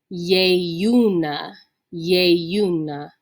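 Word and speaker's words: ieiuna: that consonantal eye here remember that's going to be a yu sound with that long e that's pronounced a so this word is going to be yey una this is our word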